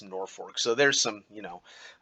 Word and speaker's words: Norfolk: uh but uh also the pronunciation of norfolk is a dead giveaway for someone who has not spent any time at all in nebraska in nebraska it's norfolk so there's some you